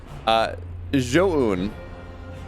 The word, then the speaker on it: Zoun: Zoun is how it's actually supposed to be pronounced.